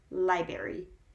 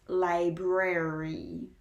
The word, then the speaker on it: library: the library library and there we have two are spread out library library and i think that some people struggle with that and perhaps that is why people tend to mispronounce it as library when it's library the next word is